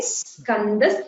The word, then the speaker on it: Skanda: Like in Skanda Skandadharo. There is a double sakara. Skanda Skandadharo. So you emphasize the sakara before you pronounce the k.